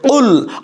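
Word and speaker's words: قُلْ: কুল, এই যে আগেই বলেছি কুল, দেখেন বড় কফের উচ্চারণটা, কেউ যদি বলে কুল, তাহলে এই কুল অর্থ হলো খাও।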